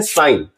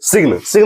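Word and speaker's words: sign: जी अगर एन के पहले आए तो वहां जी साइलेंट होता है। जैसे अगर हम लोग देख सकते हैं यहां, इसे हम लोग पढ़ते हैं साइन, ना कि सिग्न नहीं पढ़ते हैं, हम लोग पढ़ते हैं साइन।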